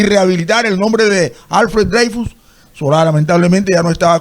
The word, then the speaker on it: Dreyfus: había sido escrita por Alfred Dreyfus, o Dreyfus, como lo pronuncian ellos.